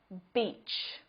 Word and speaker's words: beach: look at this example Beach it has the long vowel sound in this word e beach if you mispronounce this long vowel sound and use the short it sound you'll say that's a great word beach each here's another example